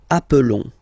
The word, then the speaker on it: appelons: Okay, nous appelons. And then little link would be perfect, so let's pronounce the whole thing again. Nous appelons. Nous appelons. Okay, final S doesn't exist.